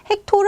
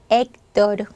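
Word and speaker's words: Héctor: 호텔 아니고 데입니다 자 사람 이름 헥토르 아니고 엑토르 엑토르음 치가 발음 없습니다 나라 이름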